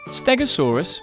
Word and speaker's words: Stegosaurus: Stegosaurus.